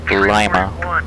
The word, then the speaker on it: Lima: If you live in Ohio, it's pronounced Lima.